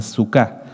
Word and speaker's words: suká: ustedes lo pueden anotar es s UK acento en la última en la a perdón a suca suca es el singular de sucot su K es una